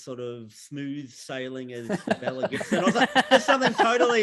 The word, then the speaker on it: Belle: it would be annoying people at home it's belle gibson her name's pronounced bell unless that's a new non-diplomat she's